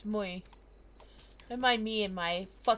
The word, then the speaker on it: Mui: that involve mui muy I keep saying Millie it's mui am I me and